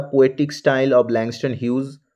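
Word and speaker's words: Langston Hughes: the poetic style of ল্যাংস্টন হিউজ এখানে অনেকে হিউজ হিউজ বলে হিউজ নয় কিন্তু একচুয়াল প্রোনাউন্সিয়েশন হবে ল্যাংস্টান হিউজ with reference to Harlem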